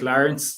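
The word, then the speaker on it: Laurence: of my name so my name is spelt l-a-u-r-e-n-c-e um but it sounds like lawrence that's the way i pronounce it some people say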